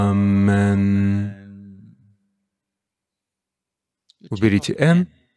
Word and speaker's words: аминь: Если посмотреть, как это произносится в Ватикане, то это всегда произносится как «аминь».